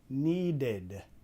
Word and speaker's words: needed: Needed. Needed. Lo estamos pronunciando con la id.